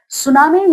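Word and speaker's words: tsunami: सुनामी ये जो spelling है इसमें टी साइलेंट है। ये एक जापानीज वर्ड है।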